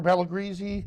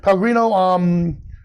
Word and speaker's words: Pellegrino: So this was for a photo shoot we did for Pellegrisi. Am I saying it right? It's Pellegrino. Pellegrino water.